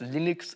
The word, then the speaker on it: Linux: is lonus tools and I pronounced Linux Linux because people said Linus and Linux would would miss the pronunciation and so like back